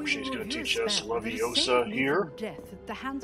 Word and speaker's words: Leviosa: Today she's going to teach us Leviosa here.